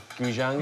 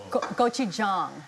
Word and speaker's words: gochujang: I've always pronounced it wrong. Goujon. Goujang, is it? Is it? Gochujang. Oh, not terribly wrong.